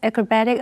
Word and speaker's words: acrobat: 必须经过多年的训练才能够做到这些惊人的特技动作。或者是 The audience was fascinated by the young boy's acrobatic abilities. 这个小男孩特技表演的能力让观众们感到着迷。如果去到字尾的 ic acrobat 是一个名词，意思是指特技演员，这时候它的重音就跑到低音节念成 acrobat。例如 The acrobat walked on the tightrope without a safety net.